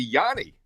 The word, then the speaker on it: Yanni: And Ace, I've always said I say Johnny, some say Johnny, so I asked you and it's actually Yanni.